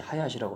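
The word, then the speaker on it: 林: 몰이구나 이렇게 아시면 되고, 나무 두 개, 목자 두 개 있는 건 하야시라고 합니다.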